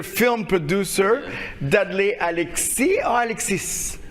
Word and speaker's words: Alexis: producer, DUDLEY ALEXIS or Alexis? Alexis. Alexis. But there is an S at the end, no? Oui, mais. But you pronounce it in French.